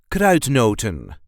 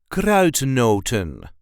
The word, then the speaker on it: kruidnoten: this gr not not there is a light emphasis on the first part of the word CR noton CR noon CR noton